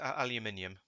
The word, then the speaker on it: aluminium: No, it's definitely pronounced aluminium.